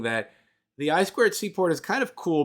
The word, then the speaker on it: I2C: So it's written I2C. It's pronounced by engineers as I2C.